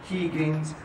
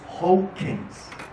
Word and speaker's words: Huygens: Porque a uno le decían Huygens, Huygens, Higgins, Huygens, es Hawkins. Todos repitan conmigo, Hawkins. Christian Hawkins. Sí, todos repitan conmigo. Clase de holandés, de Dutch.